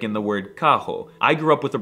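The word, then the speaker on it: carro: spring break Hog Wild the r is very often pronounced as an H like in the word Kaho I grew up with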